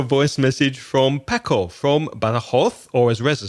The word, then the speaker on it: Badajoz: or as Reza says, Badajoz, with an idea for a topic: holidays and travel. Here's Paco. Hello, Reza. Hello, Craig. I'm Paco. I'm from Badajoz, or Badajoz, as we say here.